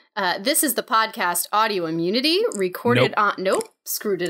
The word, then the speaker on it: Audiommunity: oh because it's Audi it's the same number of syllables as autoimmunity autoimmunity yeah that's what I thought